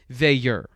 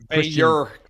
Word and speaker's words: Veilleux: And I believe you said the proper way to say it is Veilleux. Veilleux.